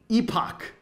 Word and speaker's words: epoch: Uh epoch, which is, in my view, the proper pronunciation of this word, not um how I like to Never mind. Anyway. So, epoch or epic, whatever.